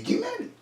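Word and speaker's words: גימל: Ça, c'est les guimels. Il n'a pas les dagues, donc ça se prononce J.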